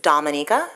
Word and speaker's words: Dominica: My country's name is Dominica. We're not Dominican Republic, so it's pronounced differently.